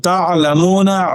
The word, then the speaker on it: taʿlamūna: Pronounce the Arabic letter ‘ayn carefully in “taʿlamūna” and “ʿilma al-yaqīn.”